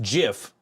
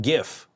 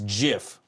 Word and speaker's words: GIF: I will argue to the death that it's pronounced Jif not gif that that is the hill I will die